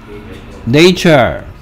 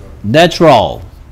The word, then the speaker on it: nature: 자, 여기에 A의 발음이 달라지는 것도 시험 문제에 종종 출제됩니다. 얘는 뭐라고 읽으라고? nature. 얘는 뭐라고? natural. 됐습니까? 얘는 발음 기호가 A 발음이고 얘는 발음 기호가 A 발음이다.